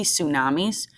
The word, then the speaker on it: tsunami: going to happen but you can also see tsunamis that TS word is actually pronounced tsunami and because of earthquakes occurring underwater